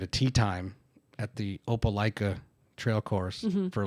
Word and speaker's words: Opelika: Thank you, because I've heard a lot of people say Laka. Opelika.